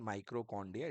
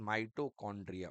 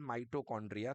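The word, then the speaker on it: mitochondria: दी इसको सही कर लीजिए इट इज़ नॉट माइट्रोकांड्रिया इट इज़ माइटोकांड्रिया okay so spelling is एम आई टी ओ सी CH ओ एन डी आर आई ए ठीक है ना? So this is called माइटोकांड्रिया।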